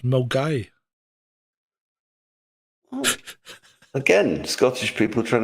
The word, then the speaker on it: Milngavie: Right, so it's spelled Milngavie, Milngavie, but it's pronounced Milgai.